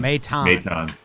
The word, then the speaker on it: Maton: Segura pinch hit him and then bring Matan out there. Is that how you say it? Maton? Maton.